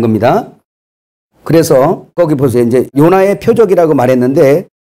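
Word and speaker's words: יונה: 그래서 여기서 요나, 히브리어 요나 이제 많이 들어서 요드, 그 다음에 요거는 이제 그 발음 교고요.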